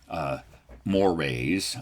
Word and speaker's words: mores: he calls laws and mores. Yes, we in American English pronounce that word like mores, like a moray eel.